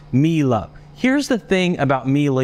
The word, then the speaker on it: Miele: where I fix this I believe it's pronounced me love here's the thing about